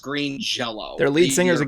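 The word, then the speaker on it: Green Jellÿ: The band's called it's spelled Green Jelly, but it's pronounced Green Jello.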